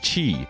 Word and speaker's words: Qi: I okay so yeah the reason why Mr Chi is pronounced Mr Chi and not Mr key or Mr Qi is because Mr Chi